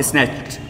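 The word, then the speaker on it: snatched: स्नैच, च sound आया यहाँ पे च, तो इसका उच्चारण ट होगा, स्नैच्ड। ठीक है, स्नैच्ड।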